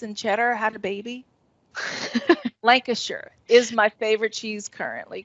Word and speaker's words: Lancashire: but it's it's currently one from britain um lancashire is that how y'all pronounce it yeah it's super orange and it has like and it almost tastes like blue cheese and cheddar had a baby lancashire is my favorite cheese currently because it does